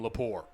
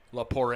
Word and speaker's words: La Poire: way off target from lapor good job by the yellowjacket defense they're swarming to the ball i beg your pardon i didn't realize i was mispronouncing kyle's last name it is la poire i apologize for that